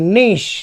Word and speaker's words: niche: NICHE, नीश।